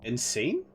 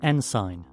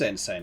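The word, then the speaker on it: ensign: Is it insane? I don't think it's insane, is it? Hold on, Google. How is this pronounced? Nsign. It is Nsign.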